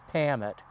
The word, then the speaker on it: Parmet: His name was William, and the last name was spelled so that it would be pronounced as Pamet.